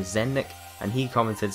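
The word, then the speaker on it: Zelnick: 2014 when Take-Two's CEO, I think you pronounce his name Zennik, and he commented saying,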